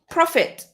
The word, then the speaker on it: prophet: Prophet. Oh no, I I spoiled it. How would you pronounce this one? So if you bump into this one again, another word connected to French but pronounced differently.